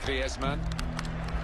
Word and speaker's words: Griezmann: He's very much a Spanish background. So he talks to his dog in Spanish and dreams in Spanish, so I think we can pronounce his name the Spanish way, Griezmann.